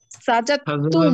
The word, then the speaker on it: سجدتم: سجدت হ্যাঁ, তোমরা সাজদা করেছিলে, সাজাতুম, سجدتم সাজাতুম, সাজাতুম, অর্থাৎ দাল আর তা একই রকম, তো কাছাকাছি মাখরাজ, এই জন্য তাটা উচ্চারণ হবে, দালটা সাইলেন্ট থাকবে। তুমি মহিলা সাজদা করেছিলে, সাজাতি, سجدتي সাজাতি, রাইট।